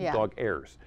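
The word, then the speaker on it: Dogheirs: called dog hairs now let me spell it for you d-o-g-h-e-i-r-s like airs airs dog airs well dog owners from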